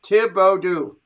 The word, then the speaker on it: Thibodeaux: not that far away thibodeaux is pronounced tibo do is it it's a hard t okay thank you steven